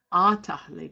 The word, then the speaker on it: atahli: So there's two different meanings here, two different pronunciations. So atahli, as I understand it, only means to furnish or to provide. Atahli. So if we want to say furnish or provide, we use the pronunciation atahli.